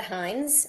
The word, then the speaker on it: Hynds: Hines. Uh, my last name is spelled H Y.